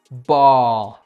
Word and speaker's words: ball: Entonces aquí, si se siguiera cierta lógica, esta palabra debería de ser o bal o bail, ¿verdad? Y sabemos que no, la pronunciación de esta palabra es ball, con este sonido que está aquí, el cual, por cierto, no existe en español.